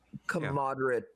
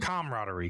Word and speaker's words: camaraderie: Commoderate. I can never say commodery. Thank you. I can never pronounce that word. Camaraderie.